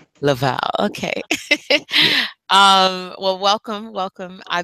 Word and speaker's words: LEVALè: LEVALè, is that how I'm pronouncing your name? Yes, that's correct. Correct me. Okay. Let me hear you say it. LEVALè. LEVALè.